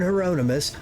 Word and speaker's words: Hieronymus: Don't look at the word, Beld. Hieronymus. You're saying it right. Don't look at the word. Reverend Hieronymus, the first among the Drusians, is most often...